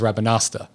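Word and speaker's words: Rabanastre: it and you're right he doesn't pronounce the r he says rabbinosta favorite thing to order at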